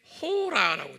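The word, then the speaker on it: ὥρα: 한번 발음해 볼까요? 샤아, 네, 샤아. 요건 지금 hour예요. 요 시간이. 헬라 말로는 여기에 호라라고 되어 있어요.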